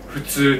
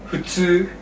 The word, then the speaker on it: 普通: 普通. Okay. How do you pronounce the F without the F, right? Because it's not 普通. It's actually not, okay. Right, it's like you're just breathing out strong.